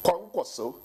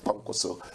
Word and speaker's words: Kwankwaso: And now here he is talking about NDC that is done more, the Kwankwaso. Yeah, please, it's very important to pronounce it properly. Kwankwaso. That's it, Kwankwaso.